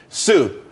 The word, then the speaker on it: TSU: everyone could be happy Sue TSU it's pronounced Sue though that's that's a website.